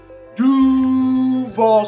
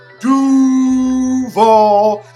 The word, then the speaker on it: Duval: you're at a concert it is pronounced doo ball say it would be doo ball that is the correct pronunciation of duvall it is not duvall county number 20 jazz